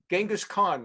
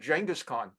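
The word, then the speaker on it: Genghis Khan: what the world was genas Khan or as John kery pronounced at jangus Khan they committed genocide uh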